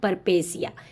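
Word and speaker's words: peripeteia: लेकिन इसका प्रोनंसिएशन होता है परपेसिया।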